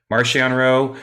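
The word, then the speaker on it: Marchion: this topic but markianro marcionro however you want to pronounce his name now i don't give a um it's both either or the writers pronounce it marcion uh you know hope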